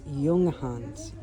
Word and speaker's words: Junghans: There's no way I can show you all the yarn in this store, but so I'm saying it wrong. It's not Jurgens. It's Yungans.